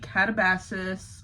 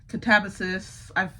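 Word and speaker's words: Katabasis: gonna have to be Catabasis or Catabasis. There's so many ways I've heard it pronounced. I think it's Catabasis, but I've been calling it Catabasis. I like that sound better, but whatever.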